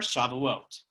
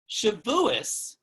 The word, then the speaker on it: Shavuot: Shavuos is the older traditional Ashkenazic Hebrew pronunciation, while Shavuot is the more modern Hebrew pronunciation.